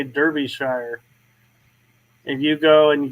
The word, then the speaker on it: Derbyshire: It's Derbyshire. We pronounce it Derbyshire.